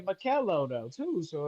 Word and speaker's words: Makellow: It's Makello. That's how you pronounce it? it's Makello, bro. Bro, you been this Makello. whole entire time you've been allowing me to say Makellow, dude.